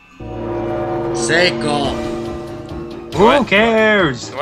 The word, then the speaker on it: Seiko: Just walk on the blood of Psycho. Seiko. Who What? cares? You know what? I'm gonna mispronounce it.